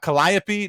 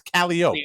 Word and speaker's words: Calliope: We take all the French, we take all your French shit, and then we just Southernize that, and we just so Burgundy, no, that's Burgundy, and Calliope, no, that's Calliope.